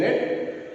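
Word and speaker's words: read: One is R-E-D, red, another is R-E-A-D, red. Okay, both pronounce the same way, same sound.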